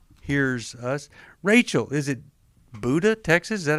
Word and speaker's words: Buda: Rachel, is it Buda, Texas? Is that how you pronounce it? It's Buda.